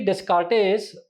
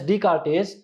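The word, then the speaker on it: Descartes: So basically discartes or decartis the correct pronunciation is decartis.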